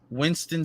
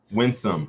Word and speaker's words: Winsome: Winsome Sears. Winston Sears. Winsome Sears. Winsome, okay.